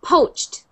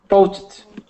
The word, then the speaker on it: poached: So that is pronounced poached. Poached. Poached. Poached. Try to just make the CH sound and the D sound one sound.